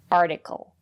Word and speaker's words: article: So remember, if the syllable after the letter T is stressed, we pronounce it as T, articulate. And if the syllable is not stressed, we pronounce the letter T as a fast D, article.